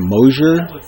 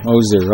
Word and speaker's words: Moser: called eliza was the moser i think the s is pronounced like a z she's german oh moser okay yeah now this